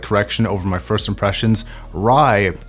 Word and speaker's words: Rai: over my first impressions rye actually stands for heaven in Romanian and it's spelled RA I I called something else